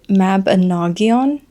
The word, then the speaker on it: Mabinogion: So, I'm going off of the phonetics that Google had, and that is the Mabinogion.